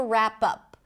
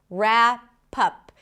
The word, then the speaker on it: wrap up: Speaking of presents, we have to wrap up. Wrap up. Here as well, we start with an R. The W is not pronounced ra as in cat.